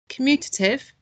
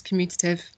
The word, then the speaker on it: commutative: Let's see how many syllables commutative has. Commutative. So 4 syllables.